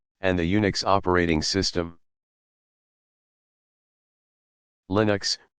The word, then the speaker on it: Linux: linus torvalds 1970 and the unix operating system linux pronounced with a short eye is an open source